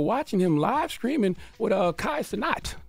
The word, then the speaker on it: Kai Cenat: him live streaming with Kai Cenat. That's how you pronounce his name, Kai Cenat, right?